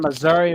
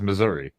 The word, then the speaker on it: Missouri: until 2015 but like people in Missouri refer to Missouri as Missour like I didn't know that H that that's really dumb yeah that's weird I mean at least say Miss like we when we talk aboutou missou or whatever you know but like it's Missouri what the I mean Missour just sounds lame stupid that's stupid yeah